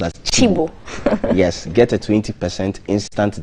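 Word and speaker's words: Cibo: chibo say that again chibomb did you say the spelling sounds sibo c-i-b-o but then this is pronounced as chibo chibo that's the chibo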